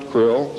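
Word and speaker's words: Krll: His name and title was His Omnipotent Highness Krill, pronounced Krill, spelled K-R-L-L-L or C-R-L-L-L.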